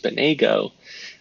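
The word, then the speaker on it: SPNEGO: Often pronounced Spanago. GSS API pseudo mechanism used by a client server software to negotiate the choice of security technology. Spinago is used when a client application wants to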